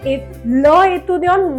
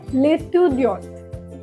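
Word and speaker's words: l'étudiant: जैसे कि लेतु दन अब हम ए ल एतु दन नहीं बोलेंगे। अब हम इसको क्या प्रोनाउंस करेंगे? लेतु दन लेतु दन मींस द स्टूडेंट।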